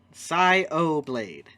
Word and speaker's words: Sayo Blade: Sayo Blade, actually, is how it's pronounced.